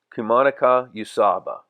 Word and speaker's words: Kamagata Usuba: like and that's the name of it it's pronounced Kuman Yaba it's a Japanese vegetable knife so Lauren's fiance